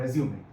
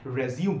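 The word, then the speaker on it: résumé: point to बी नोटे यहां पे ई के ऊपर ये जो दाग है ये डालना बहुत जरूरी है फिर ही उसका जो उच्चारण है जो इसका प्रोनंसिएशन है वो आ रहा है रेजूम में अगर ये दाग नहीं डाला गया तो इट बिकम रिज्यूम मतलब दोबारा से शुरू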